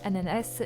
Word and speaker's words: ananas: d'ailleurs jeudi à nana je sais que beaucoup disent ananas j'ai vérifié on peut bien de prononcer les deux façons voilà pour info petit